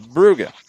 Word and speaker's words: Brugge: Now, the CBS English language coverage of the Champions League has consistently called them Club Brugge, a hard G.